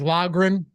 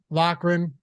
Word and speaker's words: Loughran: you pronounce your name there's like four different pronunciations in my name okay like lagrin lochran you know there's there isn't like an actual I don't think there's actually a correct pronunciation you know what I mean it's just kind of How It's evolved over time all right we're gonna